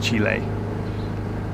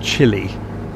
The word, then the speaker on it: Chile: idea i think that's the proper pronunciation isn't it chile it's not chilly i think a lot of english people call it chili and that's completely wrong as chile so i guess i